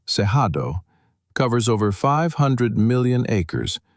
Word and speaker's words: Cerrado: The Brazilian Cerrado, pronounced Cerrado, covers over 500 million